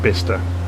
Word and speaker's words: Bicester: It says Bicester, it's pronounced Bicester.